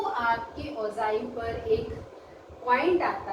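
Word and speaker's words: ogive: कई बच्चे इसको ऑगी वॉगी करते रहते हैं, है ना, ऑगी या वो वाला ऑगी थोड़ी, जो तुम्हारा कार्टून्स में आता है, इसकी सही प्रोनाउंसिएशन जो है वो ओजाइल है।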